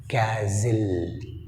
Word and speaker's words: castle: క్యాజిల్. క్యాజిల్ ఇజిల్ అన్నప్పుడు tea silent.